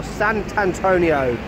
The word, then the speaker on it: Sant'Antonio: And right next to me is a statue of Saint Antonio, or Sant'Antonio. That's how you say it in Italian, apparently.